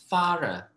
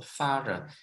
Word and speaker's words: thorough: But this one is what we say thorough. Ya, silakan cek di kamus itu membacanya thorough. Ya, so thorough.